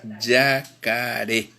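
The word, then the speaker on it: jakare: acento en la porque la forma correcta es escribir j k r y eso se lee ya care al tigre es ah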